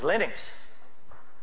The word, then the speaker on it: Linux: But Linux is always Linux. It's Linux.